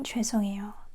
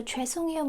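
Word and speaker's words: 죄송해요: But, I just want to emphasize that again, we don't say hae, we say ae to make it smoother.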